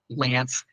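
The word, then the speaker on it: LAANC: that you really want to go with is Lance I forget exactly what it stands for low altitude aircraft notification I'm I forget exactly the acronym but it's called Lance that's what it is it's pronounced uh Lance it provides for instant authorization at specific altitudes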